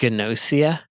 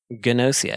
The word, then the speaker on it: Gnosia: And this one is called Gnosia, even though a G and an N sound would be silent normally.